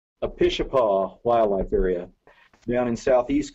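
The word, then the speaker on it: Apishapa: and Wildlife to ask what do you say a pitcher paw wildlife area down in southeast Colorado there was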